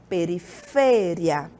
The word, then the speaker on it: periferia: No português eu digo periferia. No espanhol essa palavra é periferia.